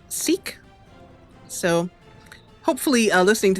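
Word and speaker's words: Sikh: a Lahore um and i also learned that s KH is pronounced seek so hopefully i listening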